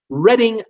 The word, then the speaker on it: Reading: Steve Chapman, it's pronounced Reading.